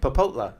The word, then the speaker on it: Popotla: by Popotla, which is Popopla. In, is it Rosarito. Popopla or Popola? Popotla. Popopla? How do you say it? Popotla.